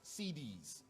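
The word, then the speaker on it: Siddis: Not like CD, it's spelled S-I-D-D-I-S, CDs.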